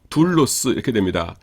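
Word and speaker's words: δοῦλος: 그러므로 이것 은 "du" 라고 읽습니다 . 그럼 "los" 라고 하죠 . 둘로스 .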